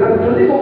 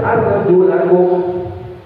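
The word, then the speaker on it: أَرْجُلَكُمْ: Wah, arjulikum ini bukan arjulikum, tapi arjulakum. Gitu ya Pak Imam, dia bacanya arjulakum. Ke atas fathah.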